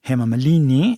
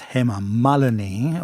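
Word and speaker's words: Hema Malini: It's not himalini it's him malani one of the topmost superstar of female superstar of Bollywood industry.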